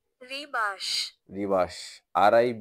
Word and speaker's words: Rebus: এখানে আমি যে লিখে রাখছি আপনি উচ্চারণটা শুনেন উচ্চারণটা কি রিবাস রিবাস আর আই বি এস ই এর মত উচ্চারণ হবে রিবাস রহস্য বিশেষ এক ধরনের এক ধরনের ধাঁধা ছবি